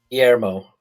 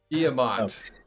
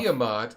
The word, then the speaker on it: Guillemot: Guillermo. Guillemot. Oh. Guillemot.